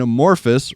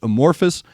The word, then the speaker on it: Amorphis: server hey man check out anavan kbur and amorphus right is that am I getting that right